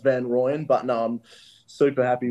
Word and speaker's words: Van Rooyen: It is pronounced Van Rooyen, but no, I'm super happy with the big Roo chant that comes up.